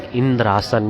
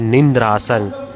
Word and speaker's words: Indrasan: He wanted to ask Indrasan, means the throne of Indra. But he added the word N while he mispronounced. He said Nindrasan.